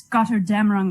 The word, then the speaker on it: Götterdämmerung: it's important that you say it like Götterdämmerung, Niles, like God damn it, but it's Götterdämmerung.